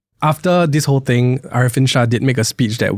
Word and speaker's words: Arifin: I think that was also exacerbated by I think some of her pronunciation of Mr. Arifin's name, right? So Yeah. people thought she was calling him elephant.